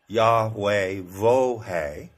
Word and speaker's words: Yahweh: of the ancient Hebrews Yahweh pronounced in four syllables yahe Vo the name of the